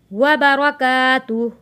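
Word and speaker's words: وبركاته: वबरकातुह। जब हम इसको वफ़ करेंगे ये तुह पढ़ा जाएगा।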